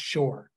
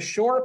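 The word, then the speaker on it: Șor: that was called the shore party spelled s o but pronounced Shore so the shore party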